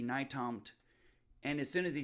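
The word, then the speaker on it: Nytomt: he said well it's it's like new york to montana it's n-y-t-o-m-t naitamt and as soon as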